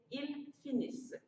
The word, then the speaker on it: finissent: Ils finissent. Faites attention. Quand on a ENT, on entend E. On n'entend pas en.